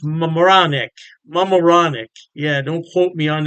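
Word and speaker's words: Mamaroneck: New York state Poughkeepsie and I believe is pronounced moronic mamaronic yeah don't quote me on that pronunciation I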